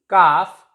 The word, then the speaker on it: calf: And L is silent before F. Half, calf, and many more words.